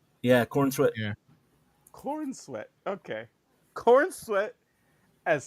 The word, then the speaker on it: Corenswet: Yeah, Corenswet.